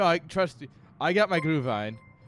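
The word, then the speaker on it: Glühwein: a great day no it's glue Vine is how I was told to pronounce it fine that's how I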